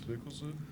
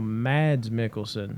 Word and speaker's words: Mikkelsen: Mickelson? No, Mads Mikkelsen.